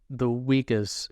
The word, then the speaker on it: Uyghurs: How about the Uyghurs in China? Have I pronounced that correctly?